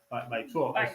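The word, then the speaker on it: 白左: Aquí son más tradicionales y aparte hay una palabra despectiva, peyorativa hasta límites insospechados sobre eso que dices que es el baizuo.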